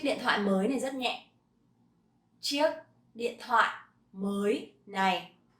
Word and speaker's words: nhẹ: Nhẹ, nhẹ. So this one has dấu nặng. So you have to be very nặng.